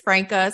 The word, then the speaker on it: Franca: It's Franca. Some people like to say Franca, but I grew up everyone saying Franca, so Franca's perfectly fine.